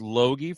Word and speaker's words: Loge: It doesn't look like that, but it's Jace Loge from up in you're in the Bemidji area?